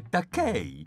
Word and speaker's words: Takei: Spesso pronuncio male il suo nome e dico Takei. No, Fred, è Takei. Fa rima con Tupei.